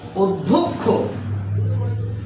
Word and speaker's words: অধ্যক্ষ: নিয়মটা হচ্ছে পূর্বে যদি অধ্বনি থাকে এবং তারপরে যদি জ ফলা থাকে তারপরে যদি জ ফলা থাকে তাহলে পূর্বের অ এর উচ্চারণ হবে ও এর মত পূর্বের অ এর উচ্চারণ